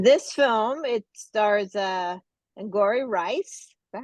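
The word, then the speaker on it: Angourie: Girls and in this film it stars uh angori rice is that how you say her name angori yep yeah she plays Katie and then Renee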